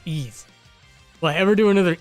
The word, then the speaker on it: Ys: do another ease cover i used to call it wise and then we talked about this a few years ago actually pronounced ease well i ever do